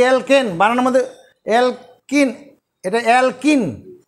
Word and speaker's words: alkane: এই যে অ্যালকেন বানানোর মধ্যে অ্যালকিন, এটা অ্যালকিন, ওটা অ্যালকেন, ওটার উচ্চারণ হচ্ছে অ্যালকেন, অ্যালকেন কয়জফলা আকার দন্তন্য।